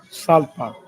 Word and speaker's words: Jalpa: Lamborghini Jalpa, Spanish pronunciation, Salpa, is a sports car produced by the Italian automotive manufacturer Lamborghini from 1981 until 1988.